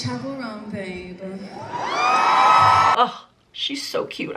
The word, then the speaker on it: Chappell Roan: Like, here she is, memorize her name, make sure you say it right because I've been saying it wrong for such a long time. It's Chappell, like a church. Chappell Roan.